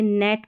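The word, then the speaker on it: gnat: जैसे नेट पढ़ा क्योंकि यहाँ पर G साइलेंट है।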